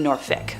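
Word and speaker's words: Norfolk: on its way to Norfick, Virginia. Now, if someone wants to fight me on that pronunciation, I swear I consulted a couple of friends who live in Virginia for that one.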